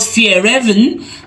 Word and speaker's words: Fjällräven: Okay, so he says it's called Fjällräven, and Raven is fox, and Fjäll is mountain.